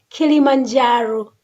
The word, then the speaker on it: Kilimanjaro: so far away so people there we are they will say kilima Caro but when the white people come came so they didn't pronounce kilima quiero so they pronounce Kilimanjaro among the clients that